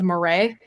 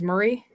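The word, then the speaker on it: Maurras: went around for years saying charles Marais and not realizing that it was Marie this cuz in my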